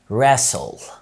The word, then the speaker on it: wrestle: في كلمات زي wrestle wrestle يعني يصارع.